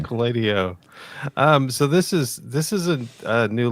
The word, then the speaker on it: SQLite O: I think it's got to be SQLiteo. That's the funnest pronunciation. SQLiteo.